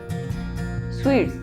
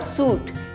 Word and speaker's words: suite: Sweets, ये मिठाइयों वाला स्वीट नहीं है. इट्स SUITE. इट्स स्वीट. इसकी प्रोनाउंसिएशन भी स्वीट ही होती है. इट्स नॉट सूट, इट्स स्वीट.